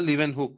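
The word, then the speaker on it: Leeuwenhoek: নাম তুমি বললে তার নাম হচ্ছে লিভেন বা লিভেন হুক একেকজন একেক রকম প্রোনাউন্স করে লিভেন হুক তাহলে লিভেন হুক কিন্তু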